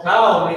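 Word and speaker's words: כל: All cow is a word that means all. Not like a cow that you get milk from, but cow, as in like California or something like that. That's how it's pronounced.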